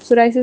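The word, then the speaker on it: psoriasis: सोराइसिस में P silent है ना, तो सोराइसिस और सिल्वर स्केल्स, ठीक है, खुश्की टाइप की प्रेजेंटेशन होती है।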